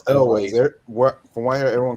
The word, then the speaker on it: Elwes: I always used to pronounce it Yules, but I think Yules is actually incorrect. It may well be It's Elways. From what I hear, everyone calls it Elways.